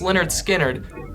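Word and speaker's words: Lynyrd Skynyrd: Halen full moon fever pronounced Leonard Skynyrd which got [ __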